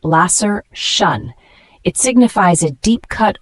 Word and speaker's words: laceration: o n is a noun pronounced Lasser shun it signifies a deep